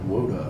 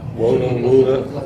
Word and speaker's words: Wuda: Tom, I'm glad you told me the pronunciation, because I would have said Woda, like Yoda. Wuda. That's the Wuda.